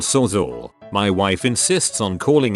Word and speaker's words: Sawzall: It's pronounced and spelled sawzall.